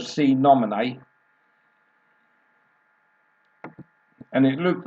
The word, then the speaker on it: Sine Nomine: at least we got the right pronunciation of see nominee and it looked like